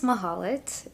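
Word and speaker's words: Mahlet: the case may be so my name is mahalet and that is spelled m a l e t it is it sounds like it's missing a vow so a lot of people struggle to pronounce my name but on social media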